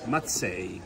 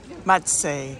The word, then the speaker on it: Mazzei: Mazzei. Mazzei.